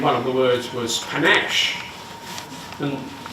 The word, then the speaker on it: panache: of the words was panache. And the spelling says pan, ache, but we don't pronounce it that way because it comes into English from French, from Italian.